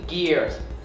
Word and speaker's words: gear: นี้ คือ เกียร หมด บาง ที เรา ออก ใน ภาษา ไทย เรา อาจ จะ ออก เสียง ง่าย ๆ คือ เกียร์ เกียร์ สระเอ ก ไก่ สระอี ยย เีย ง่าย ๆ แต่ จริ ภาษา อังกฤษ คือ Gear Gear Gear ถูก ต้อง อ่า อัน นี้ คือ